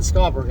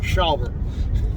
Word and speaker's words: Shelbert: car she goes but you said you're not scaldberg i said yeah because i'm shelbert and she was pronouncing my name wrong and i was you